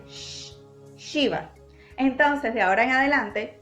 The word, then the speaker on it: Shiva: Un ejemplo muy claro de esto es al decir Shiva. Shiva es un poco como cuando hacemos shh, es ese sonido del aire, shh, Shiva.